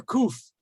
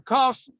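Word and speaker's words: קוף: So kuf or kaf is always pronounced like the letter K. It's always going to be written this way. It's not going, has no tricks about it. It's always going to be a K sound.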